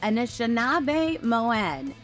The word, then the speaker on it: Anishinaabemowin: the language yeah so we say Anish Moen so inish is the part that talks about the people and the Moen part is that talks about that that's the language we speak and